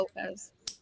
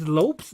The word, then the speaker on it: Lopez: never heard the Lopez it's Lopes not Lopez it has not a z no I said Lopez yeah it could still be lope yeah but I always grew up with them pronouncing it as an S so I never heard